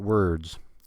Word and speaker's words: word: It's spelled with an O. Ignore that O. We don't say any vowel. There's no vowel in the word word.